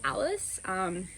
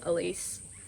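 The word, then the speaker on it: Alyce: I get called Alice a lot because my name is spelled A-L-Y-C-E, and so people think it's Alice. And so I guess that's a nickname, but other than that, I just get called Elise, so it's not very exciting.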